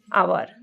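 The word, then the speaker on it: hour: B home in अ आवर सो आवर है तो एच यहां साइलेंट है because you कैन see here N इज use before words such as आवर and honest at द H sound is silent.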